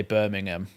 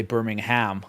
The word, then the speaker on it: Birmingham: Birmingham in Britain but Americans will say Birmingham and they'll pronounce the h which is the difference